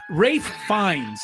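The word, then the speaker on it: Ralph Fiennes: salaman who was the other one ra ra rith fines is actually the pronunciation spelled Ralph fine but it's R um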